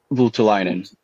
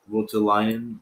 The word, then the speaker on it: Voutilainen: Vultulainen. Voutilainen. Yeah, there. That's the big bucks. It sounds like botulinum, like botulism, Botox, botulinum Okay. rhymes with Votulinum.